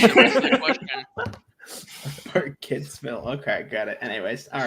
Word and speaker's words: Burkittsville: What 90s found footage horror film is set in Birkenstill? No, Birkitts. God dang it. You don't need to put the phonetic pronunciation of this. Burkittsville.